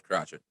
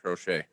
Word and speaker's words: Crochet: to pronounce his name at first i thought it was crotchet no but it is in fact garrett crochet pitched yesterday for the